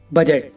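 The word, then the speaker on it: budget: For example, बजट। अब इसमें देखो गाइस, डी के बाद जी है तो डी साइलेंट है।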